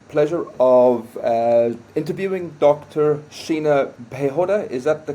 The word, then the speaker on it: Piehota: Sheena Piehota. Is that the correct pronunciation? Yeah, Fantastic. Piehota.